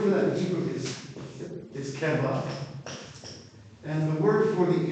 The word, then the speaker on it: keva: But I want you to know, when Heschel would teach, he taught it keva and kavanah.